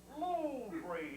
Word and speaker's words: Louvre: It's pronounced Louvre. Louvre, that's how much you know.